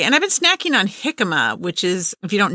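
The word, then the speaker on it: jicama: for something crunchy so try hikma it's spelled j i CA ma a but great healthy snack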